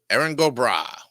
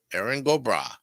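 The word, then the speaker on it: Erin go bragh: go brag mean well let's get the pronunciation right here let's check it out eron gobra eron gobra okay I was right and so was the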